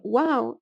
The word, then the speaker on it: و: The wow, that is pronounced as an u, may be transcribed as a w if it's written especially at the beginning of the word so that it doesn't look weird, and it may also be pronounced as an o in certain regions.